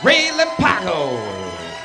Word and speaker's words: Relampago: Relampago.